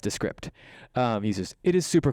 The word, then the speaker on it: Descript: descript okay yeah we got one it's actually pronounced descript um users it is super cool let me